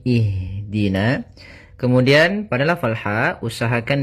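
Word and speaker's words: اهدنا: Maka kita baca di sini bukan uhdina tapi ihdina.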